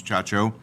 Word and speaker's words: Chacho: The person that I've appointed, I've gotten to know, has a marketing agency in town, and I always have a hard time pronouncing Christina's last name. It's Chacho.